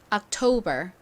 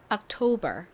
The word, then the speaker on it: October: 봐 주세요 악 소리 나는 부분은 입니다 oer 발음해 볼게요 토 한 번더 해볼게요 토 부분에 강사에 있어요 October 오케이 같이 써 볼게요 자입니다 to t b